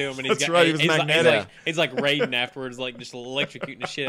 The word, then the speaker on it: Raiden: No, in the movies, they called him Raiden. It's Rodden in Metal Gear. I'm talking about Raiden from Mortal Kombat. It's spelled the same, though, right? Yeah, but pronounced differently.